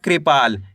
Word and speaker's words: कृपाल: क में ऋ की मात्रा कृ प की मात्रा पा ल। तो मिलकर बन जाएगा कृपाल। कैसे पढ़ेंगे?